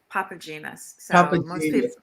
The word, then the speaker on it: Papatzimas: the last name wrong you did say it almost correctly it's papa genus oh yeah most people